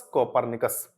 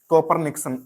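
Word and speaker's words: Copernicus: से जानते हैं, निकोलस कोपरनिकस। हम गलत प्रोनाउंसिएट करते हैं। अक्सर आपने किताबों में लिखा देखा होगा कोपरनिक्स ऐसे करके, कोपरनिक्स, जबकि वो कोपरनिक्स नहीं होता है, कोपरनिकस होता है।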